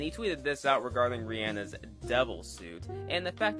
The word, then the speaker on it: Rihanna: so from now on I will call her Rihanna by the way did y'all know that Rihanna's